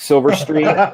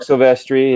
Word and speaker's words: Silvestri: His name was Mark Silverstreet, not Mark Silvestri.